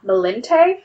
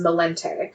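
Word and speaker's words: Malinche: urona is actually la malente and i may be completely butchering that because it's spelled m-a-l-i-n-c-h-e but the phonetic spelling that i found of it was malente they're sometimes compared as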